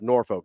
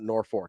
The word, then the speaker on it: Norfolk: know what to tell you like Norfolk is pronounced Norfolk not Norfork I don't I don't know what to tell